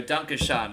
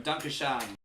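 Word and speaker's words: Danke schön: Dunkashan is how you say thank you in German. Dunkashan.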